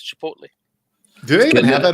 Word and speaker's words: Chipotle: Yeah, that's how Chipotle learned to pronounce their name. Chipotle. Yeah, Chipotle. It's good enough for Aristotle. It's good enough for them.